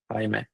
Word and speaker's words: Jaime: Is that how you say your name? I don't want to butcher it. Yes, that's how you say it. Nice, Jaime, right? Jaime. Nailed it, bro.